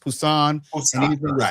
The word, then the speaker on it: Busan: dealing with Korean if if it's the letter B in English, it's pronounced P. Right. Like like the city of Busan is pronounced Pusan.